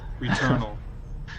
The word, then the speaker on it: Returnal: Returnal? Returnal. Okay. Oh, it's like Eternal, but you're Returnal.